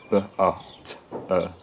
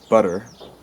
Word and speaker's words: butter: So an example of this is the word butter. In my accent it's b-a-t-e. In for example, a southern US accent, it would be butter or butter. I don't know if I'm saying that quite right. But in a Shakespearean accent, it was probably pronounced with the full quality of the t, butter, something like that.